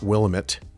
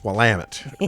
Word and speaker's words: Willamette: You're still trying to explain to people it's not willit, it's WAMIT, right?